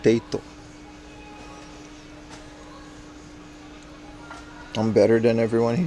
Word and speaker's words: Tate: No, I mean Tate. That's how you pronounce it, man. And the katakana is like Teito.